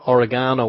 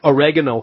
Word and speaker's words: oregano: I'm I've been just looking up there oregano, or oregano, as the Americans say, oil, and some people